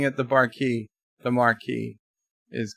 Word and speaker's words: Maquis: it the barky the marquee is correct just because there's an S and it's a silent s Cinnabon bunny said hello